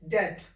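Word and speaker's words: debt: ये क्या उच्चारण होगा? डाउट। इसको क्या उच्चारित करेंगे? डेट, ठीक है।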